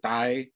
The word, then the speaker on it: Tai: of that country um when you see it written without an h here um whether i pronounce it as thai or dai it's actually an unaspirated t but i may i